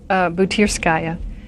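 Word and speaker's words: Butyrskaya: Yeah, you mentioned, and I shouldn't even try to pronounce it, but is it Butirskaya prison? Butirskaya.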